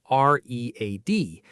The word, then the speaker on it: read: The verb is read, and the past participle is also spelled R-E-A-D, but we pronounce it differently. We pronounce it like the color red. I have read.